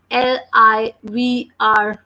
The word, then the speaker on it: livre: And last E we never pronounce. So that's the reason we are pronouncing this word as livre, because the sound of letter L is L and it is combining with I.